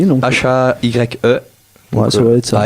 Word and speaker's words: La Haye: H-A-Y-E. Ouais, ça doit être ça. Haye, on va le dire à la française.